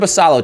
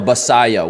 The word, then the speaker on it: Basallo: Look at Basallo, chat, begging to get on base. Oh, Basayo.